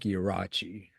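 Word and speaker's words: Ierace: His real name, and pardon me if I'm botching this, is Dominic Yraachi. Um, or you'll see it's pronounced closer to Iris on the Jaggers and Wild Cherry records.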